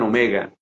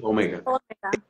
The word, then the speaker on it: Omega: del alfabeto y es Omega otros pronuncian Omega más correcto creo que es Omega él es Alfa y Omega él es el principio